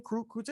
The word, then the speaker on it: Crute: Is that how you pronounce that name? Crute? Hey, I'm pretty sure. Yeah, Crute.